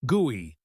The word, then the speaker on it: GUI: That's pronounced gooey.